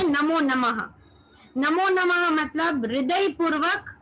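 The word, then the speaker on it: णमो: नमो या फिर नमो, हम लोग प्रचलित नमो बोलते हैं, वैसे सही उच्चारण नमो है, ण से उसका उच्चारण होता है।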